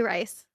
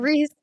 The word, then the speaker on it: Reese: I say Rice. You're wrong. Reese.